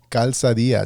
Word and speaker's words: Calzadilla: podcast today uh today's featured guest is elizabeth calzadia did i pronounce that right you did good job probably